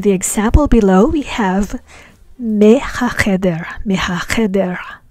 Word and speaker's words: מהחדר: But in the example below, we have me hacheder. We pronounce the mem as me because it is before a ha sound.